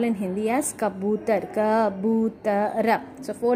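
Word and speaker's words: कबूतर: Okay, pura we call in Hindi as kabutar, kabutara. So four letters, ba. Second letter ba is having symbol of u. That's how we pronounce this word as kabutar.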